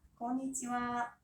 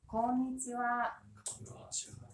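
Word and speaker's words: こんにちは: 자, 읽어볼게요. konnichiwa. 한 번 더요. konnichiwa. 스펠링은 konnichiha. 제발 좀 와라고 쓰시면 안 돼요.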